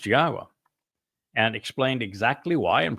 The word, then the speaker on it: Yahowah: to tell you that Yahwa's name is pronounced Yahwa and explained exactly why and proved it.